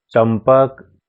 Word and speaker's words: चंपक: प और ब दोनों प वर्ग के हैं, अतः यहाँ पर अनुस्वार का उच्चारण प वर्ग के 5वें वर्ण म के अनुसार होगा, यानी म होगा।